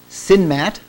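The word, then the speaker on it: CNMAT: this week we have Adrien freed who's from sinmat I've learned it's pronounced at Berkeley uh which is a computer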